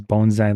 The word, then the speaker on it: bonsai: And this is Bonzai, like the tree. That's how you generally pronounce it.